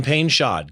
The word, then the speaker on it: Painchaud: Please welcome to the show Pulitzer Prizewinning photojournalist Kevin Payshod.